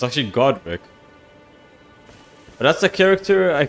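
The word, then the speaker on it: Godrick: I think I also misspelled or said his name wrong. It's actually Godric.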